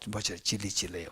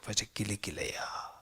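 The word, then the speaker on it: Vajrakilaya: Om Vajra, not Vajra Chili Chile, Vajra Kili Kileya.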